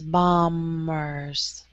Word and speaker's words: bombers: That B is silent, so it's bombers.